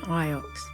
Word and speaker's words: Iox: My story begins on Iox. Okay, you do pronounce the X.